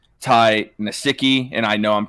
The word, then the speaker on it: Nsekhe: So it's Nsekhe. Nsekhe. Ty Nsekhe. I'm gonna put the pronunciation of his last name here in the chat.